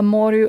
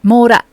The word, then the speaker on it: mora: I'm aware that N is sometimes a moru of its own. Moru, is that right? I scroll up. Because Claudion said it. Mora.